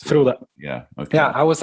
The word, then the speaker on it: Frode: Should have mentioned your full name, Frode. Is that how you pronounce it? Yes, Frode.